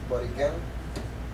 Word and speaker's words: Borinquen: First it was called Borinquen, and if you pronounce it in English, if you pronounce it in the Aborigines, and Boriquen, with the accent on the E.